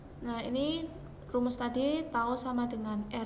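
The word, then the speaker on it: τ: ini namanya tahu ya ini bukan huruf t tapi tahu yaitu lambang dari torsi bacanya tahu Hai tahu = l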